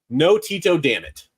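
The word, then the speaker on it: Antetokounmpo: pronounce giannis's last name it is clearly no Tito Dam it that's how you pronounce it okay no Tito Dam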